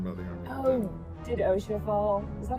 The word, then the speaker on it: Osha: Oh, did Osha fall? Is that how it's pronounced?